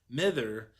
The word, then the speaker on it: mither: of the summer sea mither being the Arcadian pronunciation of mother the sea mother was